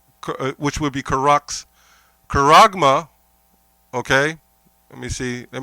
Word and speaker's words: charagma: Charagma, okay? Let me see. Let me spell it out again.